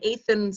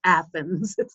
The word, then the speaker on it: Athens: And I go, no, it's not pronounced Athens. It's pronounced Athens. Yeah, we're the only place that pronounces it wrong.